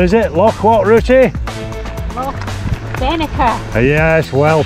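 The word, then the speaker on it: Loch Venachar: Loch Venacher. Yes, well pronounced.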